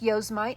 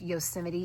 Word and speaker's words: Yosemite: And the color is called Yosemite. I know it looks like Yosemite, especially if you're not from America, but it is pronounced Yosemite.